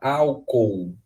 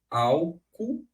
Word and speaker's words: álcool: Eu tenho dois Os. Eles não podem ficar juntos jamais, ok? Porque eu tenho que pronunciar os dois Os. Porque se eu não pronunciar os dois Os, ou eu vou pronunciar álcool, né, com esse U no final, geralmente é o que geralmente as pessoas mais pronunciam, né? Ou então vai ficar uma pronúncia ruim, álcool.